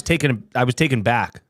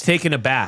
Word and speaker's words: taken aback: Most people say I was taken back. No, I was. But it's taken aback. Yeah, not taking back. Or taken back. No, you were taken aback.